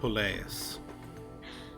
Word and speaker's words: Poleis: When the ancient Greeks colonized the Mediterranean, they built city-states known as How do you pronounce that word? Poleis.